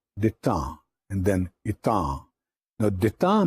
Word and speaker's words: détente: तो ये détente का जो प्रोसेस है ना, इसको डिटेंटी नहीं आपने कहना, it's pronounced as détente and then étang.